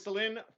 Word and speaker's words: Celine: celine all the time as well but definitely celine is the pronunciation so thanks for confirming that no problem